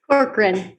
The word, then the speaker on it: Corcoran: Corcoran. I would have probably totally butchered that.